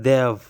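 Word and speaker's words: they've: इसको हम किस तरह प्रोनाउंस करते हैं? देव।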